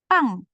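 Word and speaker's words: 빵: Jadi pang. Bukan pang, nggak pakai H ya. Ini kan P-nya yang tebal ya.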